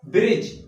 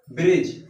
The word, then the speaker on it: bridge: पहले क्या है डी, तो डी का उच्चारण नहीं करेंगे। ठीक है, मतलब ब्रिज, इसको हम पढ़ेंगे ब्रिज।